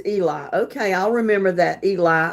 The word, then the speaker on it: Eli: Okay, I'm sorry, but here when it's spelled Eli, it's Ellie. But yours is Eli.